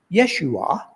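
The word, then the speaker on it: ישוע: name Jesus is interesting if you were to pronounce the name in Hebrew it would come out Yeshua which is only one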